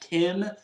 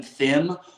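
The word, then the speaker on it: Thiim: f one Hawaii fan told me that it's pronounced Tim other people call him Thim I just call him kot him because he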